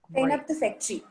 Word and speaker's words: Zeynep Tufekci: say I don't know if I'm going to pronounce her name right. Zeynep Tufekci. Does anyone know? Is that right? Okay. Zeynep Tufekci.